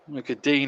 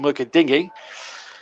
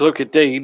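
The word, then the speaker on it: Lucas Digne: look at dean is the correct pronunciation i'm told although some commentators still call him look at dingy but it's look at dean i'm told and i'm going with the perception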